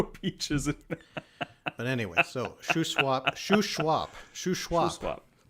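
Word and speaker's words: Shuswap: we've been corrected in the comments it is pronounced Sho swap Sho swap so I was right okay all right all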